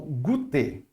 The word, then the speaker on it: goûter: E por último, mas não menos importante, é o goûter, tá ok? Goûter. Observa o O com U, vira U. U mesmo, normal.